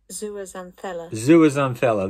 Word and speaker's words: zooxanthella: Let's go back to old mate and see if we can pronounce this again. Are you ready? Zooxanthella.